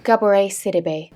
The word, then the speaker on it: Gabourey Sidibe: From this segment that was what we thought was modern, but was actually the earlier part with, how do you pronounce it? Gabourey Sidibe. Gabourey Sidibe.